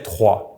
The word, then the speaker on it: trois: For the number 3, we say trois. We do not pronounce that S in the end unless we have a word starting with a vowel after, and that would be